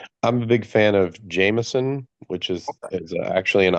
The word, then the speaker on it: Jameson: of uh um I'm a big fan of Jameson, which is is actually in Ireland and supposed to be pronounced Jamison.